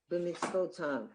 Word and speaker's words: b'mitzvotav: b, which is a sounded schwa, it's the beginning of the syllable, b, mitz, a silent schwa, vo, vav, with the dot, it's vo, tav, and the yud vav is av.